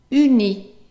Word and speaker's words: uni: So that's a U and that's an E. So how would you pronounce it? Uni. Uni.